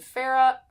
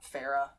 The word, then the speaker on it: Feyre: around this woman named pharah pharah feyre i don't even know that i always say her name wrong y'all centers on one